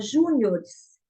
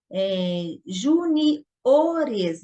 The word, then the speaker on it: juniores: Na palavra juniores, também, na linguagem formal, geralmente se fala juniors, né? Então, aqui fica juniores. Então, juniores, aqui é uma paroxítona.